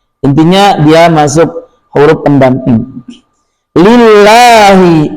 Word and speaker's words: لله: Lillahi lillahi dibaca dengan ringan. dibuka mulut.